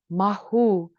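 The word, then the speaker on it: Mawu: others inite about environmentalism the goddess Mau pres pronounced mahu she's the West African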